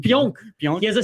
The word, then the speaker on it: Pionk: Pionk.